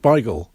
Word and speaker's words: beigel: yiddish word as baigal technically it is pronounced bigel though we universally pronounce it as bagel these days in 1855 a polish